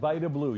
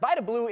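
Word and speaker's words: Vida Blue: It's Vitablau. Is that how you pronounce it? Vablau. Yep. Vablau. And I mispronounced it to start. Vablau is the answer, TJ.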